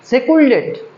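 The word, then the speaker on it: secluded: তোমাকে তোমাকে ভালো করে পড়তে হবে সেকুলেটেড সেকুলেট সেকুলডেড সেকলুডেড আমি লিখে দিচ্ছি উচ্চারণটা সেক্লুডেড সে ক্লুডেড সে ক্লুডেড সে ক্লুডেড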